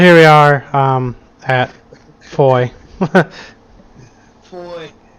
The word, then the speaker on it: Foy: Foy. Rhymes with boy? Coy? Foy. Troy.